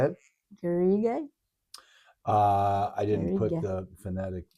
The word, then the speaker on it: garrigue: Garrigue.